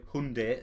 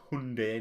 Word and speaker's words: Hyundai: to email hunt sorry Hyundai about that one they've come out and said that we're all saying it wrong it's Hyundai not Hyundai excuse me but I'm